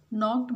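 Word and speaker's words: knocked: डू you know who नॉक्ड एट the door, नॉक्ड में K क्या है? ये साइलेंट लेटर है।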